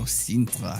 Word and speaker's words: Sintra: Oh, there you go, Sintra. I got to say it like that.